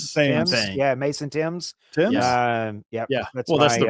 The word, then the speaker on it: Thames: Tames. Tames. Yeah, Mason Tames. Tames? Yep. Well, that's the river. That's how you pronounce the name of the river.